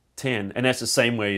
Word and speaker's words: X: By the way, officially it's not pronounced X, it's pronounced 10.